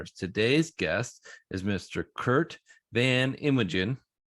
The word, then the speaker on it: Van Inwegen: And, and how do you pronounce your last. Curt Van Inwegen: Van Inwegen it's, it's a, it's an Americanized version of a, of a Dutch Cory Connors: last name.